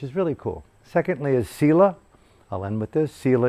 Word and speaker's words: Sila: How do you spell that? Sila? Sila, S-I-L-A, Sila.